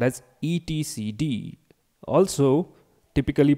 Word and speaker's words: etcd: Kubernetes, the brain of Kubernetes, that is the etcd.